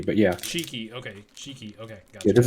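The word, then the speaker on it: Chiky: javi that he found it's called chicky it's pronounced cheeky but yeah cheeky okay cheeky okay yeah this is very popular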